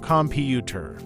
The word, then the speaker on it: computer: in the word computer the stress is on the second syllable computer if you put the